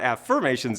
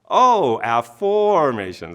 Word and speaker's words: Afformations: didn't spell it wrong it's not affirmations it's oh formations that's how to remember it right and so now